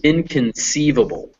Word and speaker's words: inconceivable: so this word is inconceivable and the stress is on this part sieve and the way you could guess that is because in that's a prefix it means not and hubble that's a